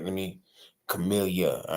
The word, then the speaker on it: Camillyah: me see let me see if I can say it right Chamilia right you said it right earlier and I was surprised